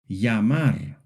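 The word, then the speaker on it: llamar: In most places, it makes a sound similar to the English Y in yes. For example, yamar to call yave key and cay street.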